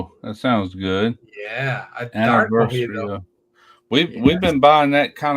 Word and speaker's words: mojito: Okay, topped with lemon club soda equals mojito. Is that pronounced mojito or mojita?